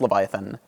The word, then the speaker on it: Leviathan: is actually I mean it's written lvt slash an um it pronounced Leviathan Leviathan of course being